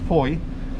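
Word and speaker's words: Fowey: so foi oh it's it's actually spelt flowey f o w e y but it's pronounced by locals foy is straight in there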